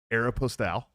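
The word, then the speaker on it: Aéropostale: it and go aeropostal it's aeropostal is exactly how you you pronounce it in French okay yeah yeah he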